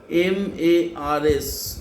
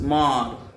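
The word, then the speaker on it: Mars: M-A-R-S, Mar. M-A-R-S, S not pronounced, M-A-R, Mar. But spelling is M-A-R-S.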